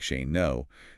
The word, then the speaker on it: Shane Ngo: And remember, for everyone taking notes at home, that's pronounced exactly like Shane Ngo. The G is completely silent. Yeah, Shane Ngo.